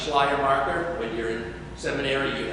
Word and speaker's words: Schleiermacher: Yes, pronounce Schleiermacher. When you're in seminary, you have to say that over and over and over and over again. Schleiermacher.